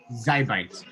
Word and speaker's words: XIByte: you see the slideshow yes how do i pronounce the company name zybite zybyte yes do you want to close with me